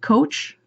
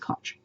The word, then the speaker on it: Koch: People pronounce it Coach. If you were as old as I am, the People's Court, it used to be Ed Koch was the judge. So, and it's pronounced this, or spelled the same way, so I pronounce it Koch.